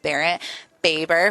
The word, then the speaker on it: Barrett Baber: I'm here with Barrett Baber, pronounced it correctly.